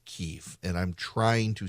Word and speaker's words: Kyiv: why am I saying Kyiv instead of Kiev? I'm trying to do the proper thing. So the Russian pronunciation of the capital of Ukraine is Kiev, chicken Kiev. The Ukrainian pronunciation is Kyiv.